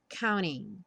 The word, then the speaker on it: counting: Counting on You e Counting muitas vezes vai ter a pronúncia reduzida para Counting ou seja o t some e você só escuta mesmo o n Counting on You Se